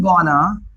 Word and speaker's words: gonna: और गोइंग टू के लिए हमने यूज किया गोना। आई एम गोना eat this, मैं इसे खाने वाला हूं, आई एम गोना eat this.